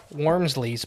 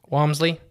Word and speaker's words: Walmsley: in the publication of Jeff Wormsley's book. I think that's how you pronounce his name. Walmsley? Yeah.